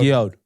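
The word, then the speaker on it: Guillod: Valentin Guillaude. Guillaude.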